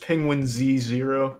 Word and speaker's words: penguinz0: Just penguinz0.